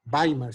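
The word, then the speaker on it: Weimar: 1919 se crea en bay marc by marc se pronuncian alemán una escuela que se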